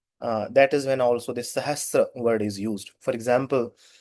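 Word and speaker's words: सहस्र: So the correct pronunciation of it's not Sahastra, it is Sahasra. Danti Sakar with a Rikar below. Sahasra.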